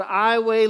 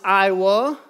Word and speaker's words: Iowa: 2 000 people called iway louisiana is the name of the town which for many people they pronounce iowa like the state of iowa because it is spelled iowa but for some reason